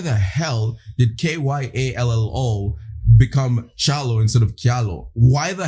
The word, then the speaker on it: Kyallo: It's pronounced Challo Kialo.